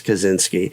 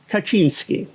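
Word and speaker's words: Kaczyński: It's strange that English speakers also pronounce the name of the Uni Bomber as Kazinski. And maybe the uni bomber pronounced it that way himself even though it's spelled in Polish Kachinski.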